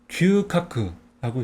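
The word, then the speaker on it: 牛角: 그래서 소우는 음독으로 규라고 읽어요. 그리고 뿔각은 음독으로 카크라고 있습니다. 그래서 규카크라고 읽어요.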